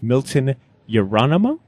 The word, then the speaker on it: Milton Yerolemou: I am sitting with Milton Yerolemou.